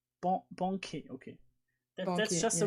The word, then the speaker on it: banquet: So stream info, you already got that, but how I can really say Banquet right in French because it's a French word. So it's pronounced Banquet. Banquet, okay.